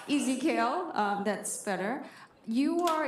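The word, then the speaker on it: EZKL: you pronounce it again e like easy kale sorry easy kale um that's better you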